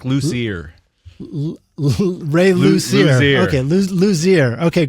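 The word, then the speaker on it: Luzier: right Charlie L ler it's like luser Ray luer okay ler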